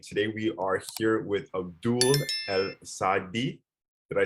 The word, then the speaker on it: Abdul Al-saedi: everyone, Cream right here, and today we are here with Abdul Al-saedi. Did I say that correctly? Kind of. It's all good. Can you pronounce it properly for us? Abdul Al-saedi.